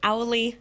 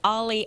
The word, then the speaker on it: Owlie: our air right now it's owly well it's ollie but it's spelled owly skywarn nws and i'm